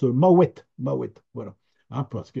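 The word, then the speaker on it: Mahouet: vous l'avez peut-être remarqué tout à l'heure Arthur prononce maouette maouette voilà hein parce que il veut bien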